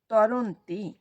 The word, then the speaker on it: তরন্তি: সুধী বৈষ্ণ ভক্তবৃন্দ আমরা একটা শব্দ উচ্চারণ করেছি সেটা হচ্ছে এতাম তরস্তি কিন্তু ওটা তরস্তি নয় ওটা হচ্ছে তরন্তি তাৎপর্য পরমেশ্বর ভগবান অনন্ত দিব্য শক্তির অধিসার এবং সেই শক্তি রাজিবা দিব্য গুণ সম্পন্ন।